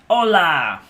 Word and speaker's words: hola: is spanish for hello hola you don't pronounce the h now you learned enough